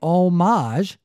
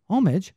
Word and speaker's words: homage: which is right and if you save omage you are referencing art yes you say homage you are like paying tribute dirty peasant to the